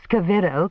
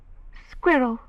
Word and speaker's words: squirrel: shot at like a scavro. Could I? He gave the ghost of a little smile. You say it wrong, he said. It's squirrel.